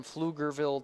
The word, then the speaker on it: Pflugerville: call for a strike tricky silent P at the beginning of it Pflugerville one of those nice